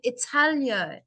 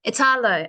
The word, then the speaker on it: Italo: We have Italio. Am I pronouncing your name right? Italo? Hi, your name is Italo? Yes. Italo.